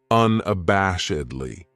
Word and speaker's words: unabashedly: This adverb has 5 syllables, and the stress is on that third syllable, that bash, unabashedly. That second syllable has that schwa, that sound, unabashedly.